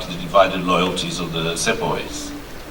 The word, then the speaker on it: Sepoy: You're talking about the divided loyalties of the Sepoys.